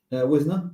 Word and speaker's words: Wisner: pronounced your surname properly is it Winer or Wisner Winer yeah you got it you got it perfect there thank you excellent